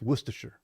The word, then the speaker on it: Worcestershire: It's Worcestershire.